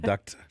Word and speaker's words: duct: in the making of duct tape so everybody was all where that is pronounced duct with the T yeah yeah you see